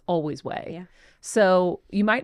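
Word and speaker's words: Ouai: now you see way there it's always always way so you might not know what it uh is pronounced like so I was going to say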